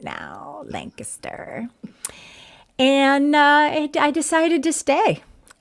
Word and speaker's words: Lancaster: Yes, I say it right now, Lancaster.